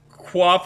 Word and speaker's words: quaff: underground below my lad I guess quaff is quaff I've never heard of the word quaff before that's that statement but it rhymes with laugh sip of tea a